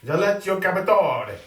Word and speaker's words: Alessio Cavatore: How do you pronounce Alessio Cavatore? Alessio Cavatore.